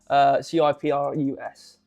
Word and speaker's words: Cyprus: CYPRUS. C what? CYPRUS. Cyprus. Yeah. No CI. He said no CY. Now I don't know Psy. I don't know how different. I thought people from Cyprus called Cypriots.